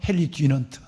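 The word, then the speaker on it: Henri Dunant: 그 사람의 이름은 보시는 대로 앙리 듀낭, 미국식 발음으로는 헨리 듀넌트, 프랑스 발음으로는 앙리 듀낭이라는 위대한 사람을 우리는 그 많은 시간이 지났지만 이분을 잊지 않습니다.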